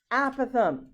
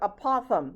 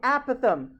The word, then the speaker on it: apothem: is this word here okay this is the apothem most people mispronounce this and they call it apothem this is not the applause the apothem okay and the epithelium is the segment drawn